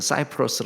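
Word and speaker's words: Cyprus: 출신이니까 로라는 것은 어 키프로스 얘기하고 이제 영어 발음으로는 사이프러스 얘기하는 조그만 섬입니다 그다음에 레네는 북아프리카 지역이에요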